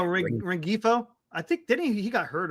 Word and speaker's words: Rengifo: Ringfolo, or I don't know how you say it. Oh, Rengifo.